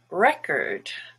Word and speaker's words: record: just schwa there distance cord is orange but in the word record the stress is on re which is actually red and cord becomes curt pro like a professional